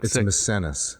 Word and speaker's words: Misenus: doesn't sound right I'm maybe I'm getting the name wrong but it the beginning of book misenus misenus sorry sorry took me a second I couldn't